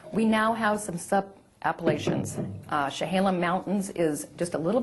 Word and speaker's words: Chehalem: Hallam? Chehalem.